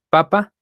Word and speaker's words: papá: es este un progenitor la diferencia entre ambas es la sílaba tónica papa la sílaba tónica es la primera papa la sílaba tónica es la segunda esto lo vieron ustedes